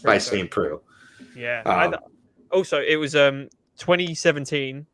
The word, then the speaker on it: Saint Preux: It's pronounced by Saint Preux.